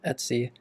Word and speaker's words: etc: Because I'm currently in this etc directory, often pronounced as etsy.